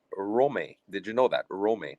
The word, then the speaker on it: Rome: who, by the way, his first name is pronounced Rome. Did you know that? Rome, not Rome.